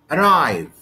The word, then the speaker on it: arrive: sentence this is mispronunciation arrive arrive arrive the stress here is on the second syllable i cannot say arrive arrive i cannot say like this okay so it's it on